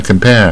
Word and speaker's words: compare: 了，它卷舌卷一半，compare，你念是大卷舌，compare，compare，啊，不对，念成不卷舌，compare，compare 也不对。